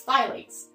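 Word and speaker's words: phthalates: it's spelled with a pea but the P is silent so it's kind of a weird word but it's Pylades so anything on your gradient list then ends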